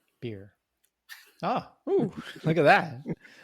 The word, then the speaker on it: Birj: So he's originally Tyros from the planet, I guess it's Birj, I Birj, I, I I think the J is silent. beer.